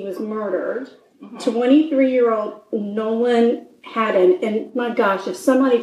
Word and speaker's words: Haddon: Last name, Haddon. It could be Hayden. It's Hayden. But how do anyway, you spell it? H-A-D-D-O-N. Okay, well, it sounds like to me Haddon. Yeah. And if it's not, then they should have spelled it a different way.